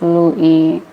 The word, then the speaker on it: Louis: across nationality that's true some pronounce like Louie with silent s okay I think it's